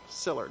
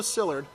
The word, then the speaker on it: Szilárd: pronounce this guy's name Leo Szilard I think is the way it's pronounced szilárd I think is how it is the pronunciation Leo Szilard and the invention of the atomic bomb that's mister that's that's mr.